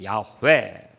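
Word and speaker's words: 야훼: 이름이 있는데요 법문 외도 여호와라는 이름은 히브리 원어로 는 야외 괴이 입니다 야외 왜 야외 라고 하기가 우리 발음으로 어려우니까 번역하는 사람들이 어떻게 은 오랜 우리 여호와 라고 하자 그래서 영화가 된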